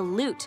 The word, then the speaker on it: lute: sitar you're absolutely right the loot which rhymes with flute look who's in